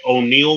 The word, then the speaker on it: O'Neill: Instagram I go by O'Neal m even though it's spelled one ill Mars o n e